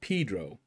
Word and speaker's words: Pedro: But he spelled his name that same way, but pronounced it Pedro, as if there were two E's in it. First and only person I've ever known that had the one E, but wanted to pronounce it as if it was two E's. Long E, as they say.